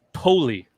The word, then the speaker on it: Poly: how would you guys say that p-o-l-y p-o-l-y wally yeah polly okay apparently it's pronounced poli of course yeah that's what i said that's